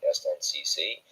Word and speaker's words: SNCC: In April 1960, the Southern Black students formed the Student Nonviolent Coordinating Committee, which is pronounced the SNCC, to give more focus to their efforts.